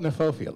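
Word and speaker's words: Kniphofia: um in Melbourne I I call it neopia looks like a knife neopia um this huge Bo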